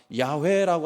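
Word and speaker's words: 야훼: 좋을 것 같아요 여호와는 우리는 여호와라고 하지만 야외라고 하는 이름으로 더 이제 바른 그 발음으로 생각을 하거든요 어 그리고 하나님이라고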